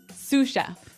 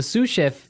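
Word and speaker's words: sous: to our second word suf suf suf suf s o u s so the S is silent because it's like a French word yeah something like that okay so the suf is the second in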